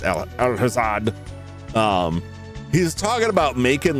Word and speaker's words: Alhazad: For some reason, every time I every time I go to say his name, I'm like, "No, that can't be right." But it is Al Alhazad.